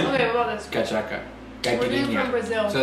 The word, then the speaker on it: caipirinha: Caipirinha.